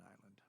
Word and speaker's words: Islay: like that's it so it's the ILA though when you get there it's Isla and so I was